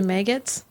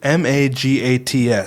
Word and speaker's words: Magats: Is this attorney's name actually Maggots? It's Magats, so I didn't sift through hours of video to see someone pronounce it.